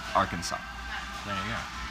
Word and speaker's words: Arkansas: of a similar one since the letter s at the end of the french words usually silently pronounced bill clinton's home state arkansas there you go